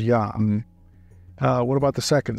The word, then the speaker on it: Yah: the first first part is yah we know that because it's always pointed with an AV vow everywhere there are no exceptions so the scribal you know tradition is very clear that the first syllable is yah uh what about the